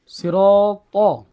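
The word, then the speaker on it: صراط: সিরাত ত হরফটা মোটা হরফ বুঝছেন ত হরফটা একটু মোটা করে উচ্চারণ করবেন আপনারা তার মত হয়েছে বলেন আমার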